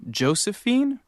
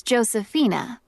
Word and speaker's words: Josefina: Is your first name Josephine? Actually, it's Josephina. It's spelled Josefina.